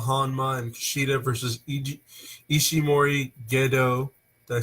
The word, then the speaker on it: Gedo: No, it's actually not Gato, it's Gedo. Gedo. Okay, thank you. Because Toriano pronounces it Gedo, Ogado, Okada, Mikada, Okada.